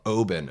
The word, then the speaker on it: Oban: in that performance uh an Oban is a place in Scotland Oben okay pronounce like Obin okay yeah we uh